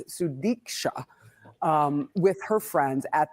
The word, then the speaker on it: Sudiksha: show uh s konaki sorry I said her name wrong it's sudika um with her friends